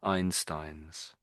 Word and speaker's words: Einstein's: So we just missed the s the the plural or the the possessive s. So it's Einstein. Einstein. Einstein. Try it again. I Einstein. Yeah. Yeah, that's it. That's it. Einstein's.